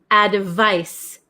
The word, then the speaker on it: advice: remember about pronunciation so number seven is advice advice advice it has a c and it's pronounced like s s sound advice and then number eight